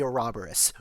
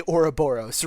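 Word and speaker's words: Ouroboros: This is definitely a robberus, right? Or a Boros. That was a horrible pronunciation. That was This is definitely Oura Boros, right?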